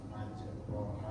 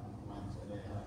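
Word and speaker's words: مجريها: pertanyaan ini yang tadi yang tulis Kan majraha ya. Iya. Bacanya majreha.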